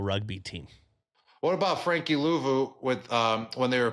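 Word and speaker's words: Luvu: that Frank lvo how do you say it louu louu my bad Frankie Frankie louu first year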